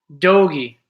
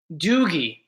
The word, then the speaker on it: Doogie: Doggy. Doggy. Doggy? Dark and Rise, I don't know. Am I saying it wrong? Is it Doggy or Doggy? I'm too young to know that show, so. Doogie.